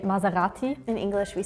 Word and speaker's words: Maserati: not the S yeah in French we pronounce it like a set because if we have on Only One S between two voils you pronounce it like that if there was two s we will say Maserati no in Germany I